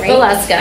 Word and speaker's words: Veleska: And you guys, if you have any additional questions or would like to learn more about Kathryn Veleska, I'm saying it right? Veleska, okay, yes. V-E, that's the trick.